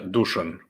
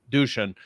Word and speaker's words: Dušan: Is it Dushan? How do you pronounce it? Yeah, Dushan. Dushan.